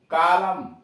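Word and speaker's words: column: श्लोक, हाइम, सी ओ एल यू एम एन, कॉलम, पृष्ठ का भाग। डी ए एम एन, डैम, बद्दुआ देना, डैम। अब ये टी साइलेंट कहाँ कहाँ, एच ए एस टी ई एन, हेसन, जल्दी करना।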